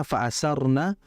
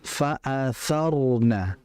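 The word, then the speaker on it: فَأَثَرْنَ: tadi faarna bu faasyarna faasarna tapi makai tsa. Faatsarna faarna pakai tsa ya. Oke. Dan rnya juga tebal. Faatarna bukan faarna. Kalau faarna sisi makhrajnya benar tapi sifatnya tidak benar.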